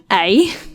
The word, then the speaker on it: ei: Ei, as in the word ei, which translates to egg in Dutch. It's pronounced the exact same way as the previous A, only written differently.